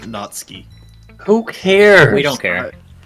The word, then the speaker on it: Natsuki: guy not to be that guy it's definitely pronounced natski who cares we don't care we're being that